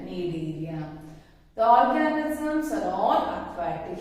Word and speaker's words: Coelenterata: phylum, Coelenterata, or is called need area. C is silent, need area.